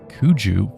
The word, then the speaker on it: Kuju: The game would have been made by one of Kuji Entertainment's teams. Mid-edit here, just letting you know that actually it's pronounced Kuju for the company, and I called it Kuji every time.